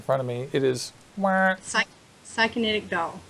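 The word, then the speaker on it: Psykinetic Doll: It is Psychonetic Doll. Psychonetic Doll. And it actually is spelled just like it looks.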